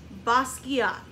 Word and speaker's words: Basquiat: talked about last week it is French in pronunciation jean-michel basquiat you say Basquiat bus yeah good we've had